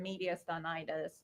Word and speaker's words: mediastinitis: And then what about the concern for mediastinitis? I believe that was the correct pronunciation.